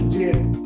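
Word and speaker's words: gem: নিবে যে এটাই হচ্ছে যখন কোন জি থাকবে এবং তারপরে ই আই এবং ওয়াই যদি এরকম থাকে তাহলে তার উচ্চারণ করতে যত ওকে যেমন জেম দেখো জি এর পরে কি আছে ই আছে তারপরে এখানে গেম হলো না জেম হলো জি ই এন জেম ওকে এরপরে যেটা আই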